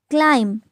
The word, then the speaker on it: climb: When B is followed by M, we don't pronounce B. Like comb, not comb. Climb and not climb.